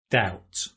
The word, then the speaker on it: doubt: doubt without a doubt doubt i know it's got a b but you don't pronounce it without a doubt and